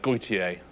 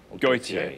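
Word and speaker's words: Gotye: Gautier. Gautier.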